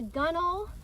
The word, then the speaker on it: gunwale: The gunwale, which is spelled gunwales, kind of goes along the top of the boat.